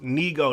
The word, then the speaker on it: Nigo: J Brook says um ni Neo is pronounced Neo that's what Neo so